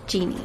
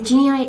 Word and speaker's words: Genii: Just a quick note, by the way, I call it Genii for the whole of this video because that's how it's spelled, but it's actually pronounced Genie. So Genii is created by students